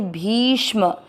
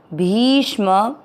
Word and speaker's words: भीष्म: भी की मात्रा बड़ी है, लंबा खींचना है। भी के साथ आधा श षटकोण वाला और म में अ मिक्स करेंगे भीष्म। भीष्म नहीं करना है इसको, भीष्म।